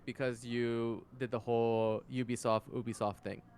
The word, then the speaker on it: Ubisoft: not an Ubisoft original, because U has a hard Y sound. That's why it's a Ubisoft original.